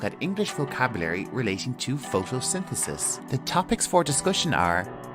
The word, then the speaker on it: photosynthesis: for you to pronounce our first syllable is photo then we have sin followed by the and finishing with sis and Al together photosynthesis one more time photosynthesis